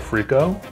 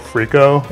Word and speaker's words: frico: the sides, is called frico. Excuse me? It's called frico, officially. How do you spell it? F-R-I-C-O. F-R-I-C-O. Yep. Oh. Like Rico, but with an F. Right. Okay, not F-R-E-E-K-O.